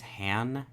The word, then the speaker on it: Han: Additional editorial note, I do just want to note that I mispronounced Ben's last name throughout the entirety of the episode. His last name is Han, H-A-N, Hanscom, not Hamscom.